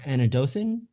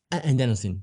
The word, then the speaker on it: adenosine: is how you say it and then your anidocin i think so can you explain those concepts a little bit adenosine yes can you explain this concept yeah no